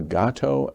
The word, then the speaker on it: Gato: You call yourselves the Gato and the Guapo. Did I pronounce that right?